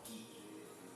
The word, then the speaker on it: ghee: It's called ghee. You should try it. It's called ghee. It's spelled G H E E and it's called G. Yes.